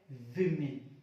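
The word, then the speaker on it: women: इसको पढ़ेंगे बोमन क्या पढ़ेंगे इसको वुमेन पढ़ेंगे वो में गलत होता है ये सिंगुलर होता है आपका अगर इसका बहुवचन की मैं बात करूं बहुवचन होता है व ओ एन ए अब इसका उच्चारण क्या होता है गैस इसका उच्चारण होता है विमीय इसका यह प्रनंसीएशन जो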